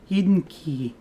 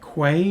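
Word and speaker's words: Eden Quay: Eden Key yeah see Eden Key looks like it should be like Quay or something like that but of course it's British so I mean guess it makes sense that be key I don't know anyways so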